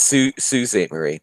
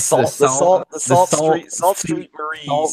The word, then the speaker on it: Sault Ste. Marie: It's Sault Ste. Marie. But but no. It's great if you're pronouncing it phonetically. That's awesome. It's Sault Street Marie.